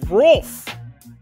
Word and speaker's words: Rolf: oh damn it to Rolf sorry r o LF so it's like wolf but with an r in front of it